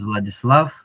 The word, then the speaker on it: Vladislav: lot of people, so most of the time I introduce myself by singing the song "What Is Love" because it rhymes so well. So, what is love, baby? Don't hurt me, and it rhymes with "blood is love." So that's how you pronounce that.